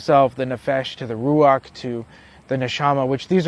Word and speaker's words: ruach: form and then the rous uh ruach I would say rous because I say it wrong the ruach which is u the ego